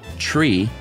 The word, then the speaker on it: three: in German nice uh three is pronounced tree uh to not be